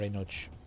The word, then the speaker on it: Enoch: Or Enoch. How do you pronounce it in English? I'm pronouncing Enoch because a lot of the time I've seen the CH sound used as a K sound, I guess.